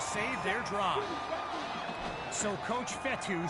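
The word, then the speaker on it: Fetu: their drive so coach fetty spelled f-e-t-u for the longest time i was pronouncing it coach fedo like feta cheese so let's just say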